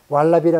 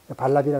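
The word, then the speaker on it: Valabhi: 인도의 고대 불교 대학은 나란다 대학 말고도 여기 이제 V자 발음을 왈라비라 그러냐 발라비냐 해서 발라비라 그러는데 이런 대학들이 역할을 했고 여기 여러 곳들이 다 나란다 대학의 유적들입니다.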